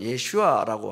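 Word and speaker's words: ישוע: 제2에 여호수아라고 할 수 있는 예수님의 그 우리 예 한국말로 하는 예수라는 말에 이제 유대인들이 쓰는 그 언어 히브리어로는 예슈아라고 합니다. 비슷하죠.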